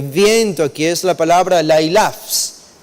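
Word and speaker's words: λαῖλαψ: Lailaps, esa es la idea. El sonido de esta palabra, la pronunciación de esta palabra, es como que reduplica el significado de este término.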